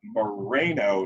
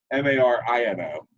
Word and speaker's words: Marino: Another football great, Dan Moreno, as you have it, or Marino. It's actually pronounced Marino.